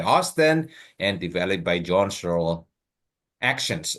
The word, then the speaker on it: Searle: Bacanya Searle.